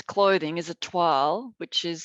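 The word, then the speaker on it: toile: textiles is the if it's clothing is it twirl which is spelled t-o-i-l-s some people think it's 12 but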